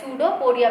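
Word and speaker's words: pseudopodia: ठीक है, सूडोपोडिया, P silent रहेगा इसके अंदर.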